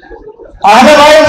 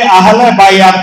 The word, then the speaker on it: আহলে বাইত: এখন বিভিন্ন জনকে আহলে বাইত শব্দটা উচ্চারণের মধ্যে অনেকে আমরা ভুল করে ফেলি। অনেকে আহলে বাইত না বলে অন্যভাবে বলি। এই শব্দটা কি আহলে বাইত নাকি আহলে বাইয়াত? আহলে, অনেকে আহলে বাইয়াত বলে।